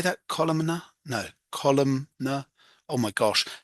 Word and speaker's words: columnar: Columnar?